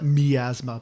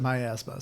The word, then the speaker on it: miasma: Well, in the game they call it miasma, but I always pronounce it my asthma.